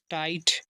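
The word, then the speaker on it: tight: हो जाएगा टाई और जी एच साइलेंट रहेगा टी सेटा टाइट जैसे लाइट देखिए ए आई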